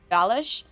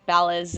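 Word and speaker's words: Balázs: Someone corrected me about the fact that it's pronounced Balish, like Balaz, you know, me trying to be, I don't know, Hungarian. But the thing is that my original surname had that S in it, and I know that it's supposed to be pronounced like an SH.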